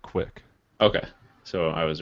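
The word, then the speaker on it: Qik: so this app's called Skype quick or kick I don't know how I would say it in the application description it says to pronounce it quick okay so I was right quick um it it's basically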